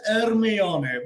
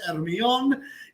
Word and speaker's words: Hermione: Potter, quiero comentaros que la pronunciación de la chica en Harry Potter no es Hermione, ¿vale? No es Hermione, ni es Hermione. En inglés se pronuncia Hermione.